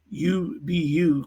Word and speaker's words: UBU: students he was creating the ubu pronounced ubbu Club as a safe